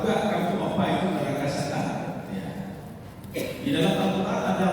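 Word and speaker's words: سقر: tahu apa nada sakar itu? Iya. Jadi dibacanya sin sakar. Kalau dibaca shad itu artinya huruf kelam, ya sokar. Nah, jadi orang ini sokar artinya huruf kelam. Tapi kalau sakar itu neraka sakar.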